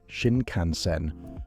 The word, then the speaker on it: Shinkansen: The word Shinkansen is said Shinkansen, with the emphasis on the middle syllable.